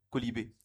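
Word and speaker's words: quolibet: Un colibé, ça s'écrit Q-U-O-L-I-B-E-T, un colibé.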